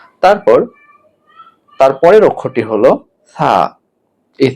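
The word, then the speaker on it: ثاء: তারপর তারপরের অক্ষরটি হলো থা। এই থা উচ্চারণ হবে যে জিহ্বার আগা সামনের উপরের দাঁতের আগার সঙ্গে লাগাতে হবে, অর্থাৎ জিহ্বার আগাটাকে উপরের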